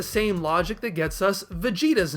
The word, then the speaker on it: Vegeta: His name is a modified shortening of vegetable, which we don't typically pronounce vegetable, but the name is modified with that same extended vowel, which is why we don't call him Vegeta.